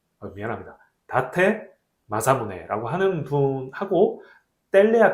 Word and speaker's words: 다테 마사무네: 전국 통일을 할 때 다이묘 중에 하나였던 이 다테마네 무세, 미안합니다. 다테 마사무네라고 하는 분하고 뗄래야 뗄 수 없는 관계에 놓인 게 이 센다이시라고 해요.